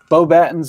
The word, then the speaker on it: Beauxbatons: Is it Beauxbatons? Beauxbatons is correct. I will accept it.